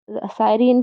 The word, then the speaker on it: Assyrian: The Assyrian came down like the wolf on the fold. The last three letters of the word Assyrian should be heard as one syllable.